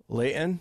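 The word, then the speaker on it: Layton: right but in the local pwa it is pronounced Leon Leon I will take us to Leon Utah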